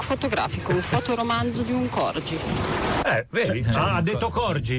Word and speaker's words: Corgi: trovato Corghi Ah Cor tu hai detto Corgi però la pronunci in inglese su internet è Corghi attento che ti accorgi